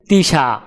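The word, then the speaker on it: تسعة: আরবি ক্রমিক সংখ্যা 9 দেখতে এরকম, উচ্চারণ হবে তিসা।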